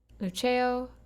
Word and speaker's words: Luceo: on the scottish motto lucio uh lucio excuse me let me let me go ahead and pronounce this latin better lucio which is i shine